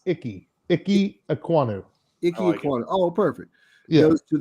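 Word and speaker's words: Ikem Ekwonu: word and then don't don't pronounce the m it's icky icky ekwano oh perfect yeah goes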